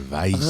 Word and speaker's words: Weisz: Rachel Weisz.